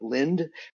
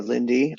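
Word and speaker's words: Linde: with as Jason is but Lind or Lindy depends on who how you pronounce it and Air Products and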